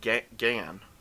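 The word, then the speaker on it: Gehn: something guy uhuh right gen oh they pronounce it like G gan so that's what threw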